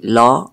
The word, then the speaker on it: law: Entonces la A y la W se pronuncian como O. O. O. Es casi como prolongando el sonido de la law.